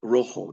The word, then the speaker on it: rojo: Mor purple negro black Rojo there's that J is pronounced like an H red and rosalo pink